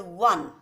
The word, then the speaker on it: one: letter of the word one ver what is ver what is ver is the sound of the consonant w ver is the sound